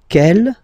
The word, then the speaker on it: quelle: And then the feminine form is written like that, Q-U-E-L-L-E, but it's pronounced like the masculine form. Quel at the masculine, quel at the feminine. Okay, so it's basically same pronunciation.